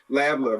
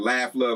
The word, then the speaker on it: Lav Luv: Because people mispronounce it all the time. Laugh Love, like ha ha ha. No.